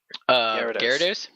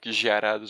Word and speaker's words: Gyarados: Oh shit, how is it pronounced, the evolution of Magikarp? Gyarados?